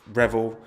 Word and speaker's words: Revell: friend i'm all right and the pronunciation is revel so damn it yeah